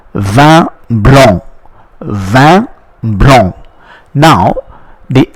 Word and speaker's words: blanc: it is called vin blanc. Vin blanc. Now, the N, the C which is preceded by N is not pronounced. So the N which comes before C is not pronounced. Therefore, we say blanc.